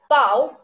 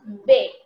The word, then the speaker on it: W: Then we have W, which is pronounced as B.